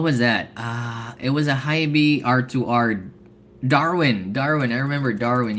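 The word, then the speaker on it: HiBy: Did you guys know that it's pronounced as Hybe? Or did you guys say it's Hibi?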